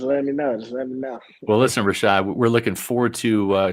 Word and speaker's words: Rachaad: mom we yeah so Rashad is spelled different so some people might see it as Chad but it's shot um that's what my